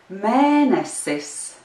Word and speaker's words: mēnesis: Mēnesis. And now let's do it together. Mēnesis. The accent is on the first syllable of the word mēnesis.